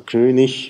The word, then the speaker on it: König: Sachen, wo man zögert, die Endung IG zum Beispiel, Norddeutsches, Standarddeutsch, oder Standarddeutsch, norddeutscher Prägung ist eben ich, also König, wenig, und in Süddeutschland sagt